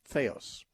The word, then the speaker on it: theos: our website and listen to those things theos is spelled t-h-e like the it's t-h-e-o-s feos dot org slash media and you can get